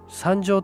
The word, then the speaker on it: 山城: と言えるのです中世の山白は山白と読みますが古代三条は三条と読みますこれは古代